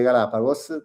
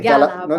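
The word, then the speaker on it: Galápagos: Il problema è che quando Quando arrivi, arrivi per entrare, nel senso all'aeroporto delle Galapagos, dell'isola di Santa Cruz, ma l'altra era uguale, lì paghi $200 solo per entrare al parco, ogni persona.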